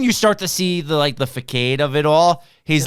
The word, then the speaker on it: facade: It's facade. Oh, really? The facade. I like facade. the facade, though. It's like a new take on the arcade. It's the fakeade.